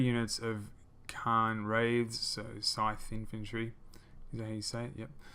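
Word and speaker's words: Cairn Wraiths: So looking to the left side we have some great sword infantry, 3 units of them, 3 units of Khan Wraiths, so scythe infantry, is that how you say it?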